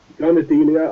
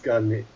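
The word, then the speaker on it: Garnidelia: Garnadelia, I think is how you pronounce it. Oh, Garnadelia, let's get to them. Oh yes, Garnadelia. Yeah, I always wanted to do it the other way around with the D's and the N's, but yeah, same.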